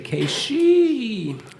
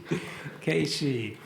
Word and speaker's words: Keishii: I say Keishii's name because there's two I's at the end, and so I'm always trying to make sure I pronounce the I so they think I say Keishii. Keishii.